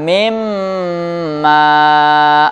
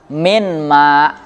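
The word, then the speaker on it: مِمَّا: Nah, kemudian pada contoh kedua wajib diidghamkan mimma. Nggak boleh misalnya bacanya cuman minma. Mimma.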